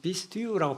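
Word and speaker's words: πιστεύων: 히나 파소 피스테온 이게 믿음인데 피스테온 어떤 사람들은 피스티우라고 발음하기도 하고 피스테오 이거는 약간 이제 코인의 헬라어 2000년 전에 쓰였던 헬라어와 지금 현대 그리스 사람들 쓰는 발음에 좀 차이가 있죠. 우리 옛날 훈민정음과 지금 우리가 쓰는 말에 차이가 있듯이 그래서 발음이 좀 차이가 있을 수 있는데 믿는 자 파소 파스테온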